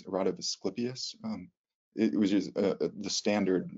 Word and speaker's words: Asclepius: And then with the rocket blasting off with, well, there's the classic, how do you pronounce it? Rod of Asclepius.